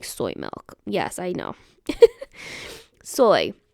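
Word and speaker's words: Zoi: name z o i remember that Z is an S sound soy it's pronounced the same way as soy as an s o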